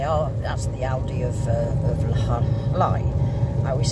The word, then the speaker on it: Llay: It's Llay, but in fact, you pronounce pronounce double L in Welsh, which is Britannic, because, you know, English is a mixture of is foreign, basically.